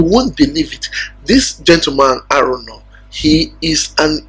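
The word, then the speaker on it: Araunah: jaite I used to call I used to pronounce it Aruna but right now I've met someone that made very clear that name is arono the Jus that's the same name the exact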